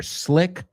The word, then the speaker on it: slick: Slick rhymes with stick, rhymes with brick, rhymes with lick.